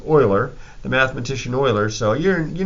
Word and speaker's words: Euler: a little bit like Euler but it's actually pronounced Euler the mathematician Euler so you know you're a